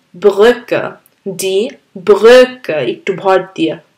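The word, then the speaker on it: die Brücke: বা খেয়াল করেছেন যে এটা একটু ভর দিয়ে উচ্চারণ করতে হয় নর্মাল ইউ এর থেকে ই সো ই ভিডি ব্রুকে ডি ব্রুকে মানে আসলে দ্য ব্রিজ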